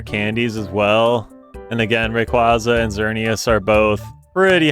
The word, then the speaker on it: Rayquaza: But you know what, since I grabbed so many rare candies as well, and again, Rayquaza and Xerneas are both pretty high level.